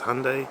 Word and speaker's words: Hyundai: but it's completely wrong apparently it's meant to rhyme with sunday so it's hyundai the tucson highlander the